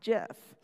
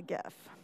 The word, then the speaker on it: GIF: big deal is because the creator of the file format himself actually clarified at one point in a conference that it was supposed to be pronounced GIF. And just to make things even crazier, about 15 years later, this guy changed his mind and said, no, it's actually GIF.